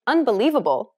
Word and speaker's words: unbelievable: When you say unbelievable, in English for example, do you notice how li is accentuated? That's because it's pronounced longer and louder than all of the other syllables.